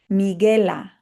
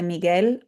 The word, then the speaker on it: Miguel: So the U there is silent. So GUE, ge, GUI, gi. Miguela, Jose Miguel. And I have a note here. There's a reason I put Jose Miguel on the screen and not just Miguel.